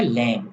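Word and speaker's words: lamb: एक लफ्ज आया है लैम एल ए एम बी इसे हम पढ़ेंगे लैम बी साइलेंट है पूरी इंग्लिश डिक्शनरी में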